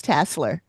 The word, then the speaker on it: Tasler: It's Tassler. That's how they pronounced it in the show.